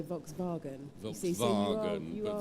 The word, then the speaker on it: Volkswagen: Might be able to pronounce Southall, but I can't pronounce Volkswagen. Well, you could, if you were speaking with a German accent, you could go Volkswagen.